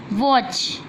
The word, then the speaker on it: Watch: Watch. T silent letter.